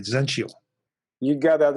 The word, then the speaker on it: Zentyal: at hi-tech so it's all I got the pronunciation right Zentyal you got that right yes all right that's